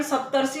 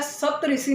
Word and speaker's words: सप्तर्षि: यह बन जाएगा सप्तर्षि तो इसका उच्चारण सप्तर्षि होता है सप्त ऋषि नहीं होता है 70 से ऐसे एक